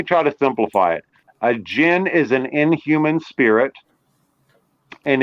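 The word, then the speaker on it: djinn: they are not and I spell it DJ i n n Jin and you have you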